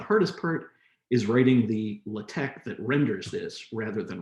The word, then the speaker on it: LaTeX: looks like it's spelled latex uh but it's pronounced latex my hope is that the hardest part about